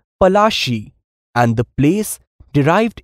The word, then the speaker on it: Palashi: plasie got its name lassie is an anglicized pronunciation of palashi and the place derived